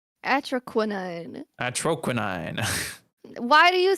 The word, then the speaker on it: Atroquinine: Atroquinine.